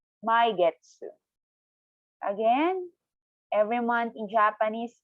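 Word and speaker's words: 毎月: So, for every month, you can say my getsu. Again, every month in Japanese is my getsu. One time again, slowly, per syllable. Maigetsu.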